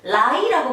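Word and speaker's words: 来: 자, 올레자는 라이라고 발음합니다.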